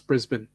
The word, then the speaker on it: Brisbane: of Aussie lessons Okay we don't pronounce the a it becomes an I so it's Brisbane okay Brisbane Melbourne Sydney